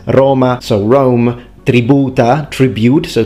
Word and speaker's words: Roma: it back in the day would be with an open O, longer of course, so Roma, Roma rather than Roma. As a modern day Roman, he would naturally say Roma, but now here he's pronounced it Roma with an open O, and it's great.